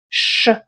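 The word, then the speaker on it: щ: There is no really an equivalent in English but try pronouncing fast sound s and ch and with time you will get the sound sh.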